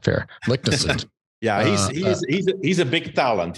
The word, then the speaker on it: Leknessund: Here's how I would pronounce his last name. Well, you just said it, so that's not fair. Leknessund.